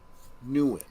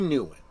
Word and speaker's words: Nguyen: Tue Nguyen. Tue Nguyen. That G just throws me, man. But okay, Tue. The G is silent.